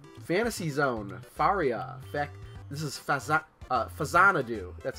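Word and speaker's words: Faxanadu: Fantasy Zone, Faria, this is Fazanadu, that's how you pronounce that.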